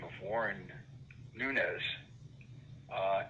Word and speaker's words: Nunes: the name of warren nunez uh n-u-n-e-s he pronounced it nunes back then and he